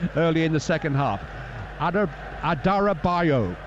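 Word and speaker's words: Adarabioyo: Adarabayo. It's one of the syllables you don't pronounce.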